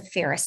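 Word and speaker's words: Feres: The other thing is the Ferris Doctrine. It's spelled F-E-R-E-S, and that was a case law from 1950.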